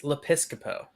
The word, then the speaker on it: Lepiscopo: Colin, it's Lepiscopo. Lepiscopo, like Joe Piscopo, but Lepiscopo.